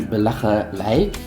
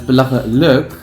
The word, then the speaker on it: belachelijk: as I, so that you would think it would be belachelijk. That's not the case. But it's belachelijk, and you just have to learn which words have the uk and or the eik.